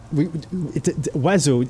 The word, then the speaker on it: oiseau: Oiseau. I don't know if you heard that. Oiseau. It's pronounced oiseau. Like, kind of, if you want to break it, it's like oiseau.